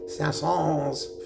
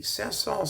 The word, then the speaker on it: Saint-Saëns: Saint-Saëns. Sometimes I pronounce the S, sometimes I don't, and I don't care, so leave me alone when it comes to that stuff.